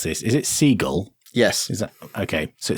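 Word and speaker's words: SeaGL: I never know how to pronounce this. Is it Seagull?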